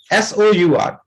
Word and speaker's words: sour: यस सर।